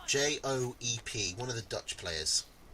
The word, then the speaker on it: Joep: Yoop that rhymes with soup. Joep.